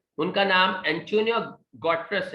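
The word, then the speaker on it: Guterres: से इनका ताल्लुक है, तो इनके नाम की प्रोनाउंसिएशन पुर्तगाल में एक अलग है, एंटोनिया गॉट्रश कुछ है, मुझे चूंकि पुर्तगाल नहीं आती तो मैं नहीं बता सकता, लेकिन इंग्लिश में एंटोनियो गॉट्रस इसको पढ़ा जाता है।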